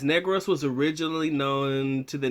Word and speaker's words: Negros: and inflection in the word it's not actually pronounced negros is pronounced negros negros accidento negros oriento okay four purposes that i